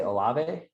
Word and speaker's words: Olave: I want to say Olave.